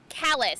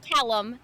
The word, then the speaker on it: Callus: about who he though callus not callum callus you're so i tried so close starts with a c it starts with a letter and ends with letters starts with a hard c sound okay yes i i